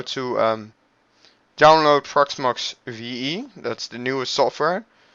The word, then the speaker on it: Proxmox: let's pronounce p let me get website it's pronounced as Solar's peacocks marks proxmox and what proxmox is is a virtualization too